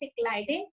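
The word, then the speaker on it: Schleiden: ठीक है बेटे, this is the correct pronunciation of the name of both the scientists, Cyclidin and Schwann.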